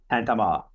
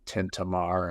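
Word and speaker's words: Tintamarre: Okay, and that's called, how's that pronounced again? Tantama. Okay, I kept pronouncing it Tintamar, and I actually sat on the lawn of their bed and breakfast and watched the festivities go by.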